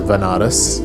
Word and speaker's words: Benares: So I ended up going to Benares, which is a place in India, sometimes pronounced as Vanaras, which is a place